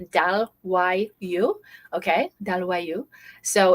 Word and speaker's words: Dalloyau: Okay, is how you spell it. It says Dalloyau. Okay, Dalloyau.